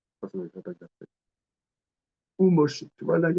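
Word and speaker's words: וּמֹשֶׁה: Ou Moshe.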